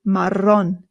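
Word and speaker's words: marrón: The double R in Spanish is what rolls. So it's not maron. It's maron.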